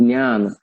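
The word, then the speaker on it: ज्ञान: Do you pronounce it as a Vigyan or Vidnan? There are many ways people pronounce. The correct pronunciation, I would claim, is Pratidnya and Vidyan and Jnana.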